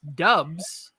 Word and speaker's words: Doubs: at packers camp and they said pronounce dubs romeo doves as you're talking about